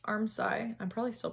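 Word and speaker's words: armscye: from a viewer that it's not pronounced arm sky even though it's spelled a-r-m-s-c-y-e it's pronounced armsci i'm probably still pronouncing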